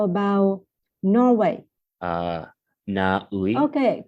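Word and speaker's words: Na Uy: Naui.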